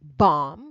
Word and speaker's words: bomb: English like the word bomb you don't say bomb the B is silent at the end and then KN the